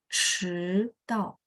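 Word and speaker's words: 迟到: Pertanyaan saya, teman-teman ada dengar lidah saya diangkat 迟到.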